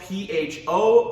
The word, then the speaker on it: pho: Okay, it's spelled P-H-O, but it's pronounced pho.